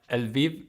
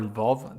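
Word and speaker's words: Lviv: frankevsk is uh well el viv or vov depending how you pronounce it is in the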